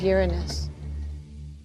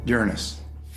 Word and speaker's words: Uranus: pronounced the planets name Uranus which is very likely closer to the original pronunciation of the name of the God after Luna was named